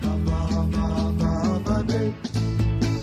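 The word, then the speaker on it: Håfa Adai: Just pronounce it as in half a day.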